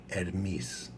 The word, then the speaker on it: Hermes: only source the or and finally hermes no h er miss miss that's pretty freaky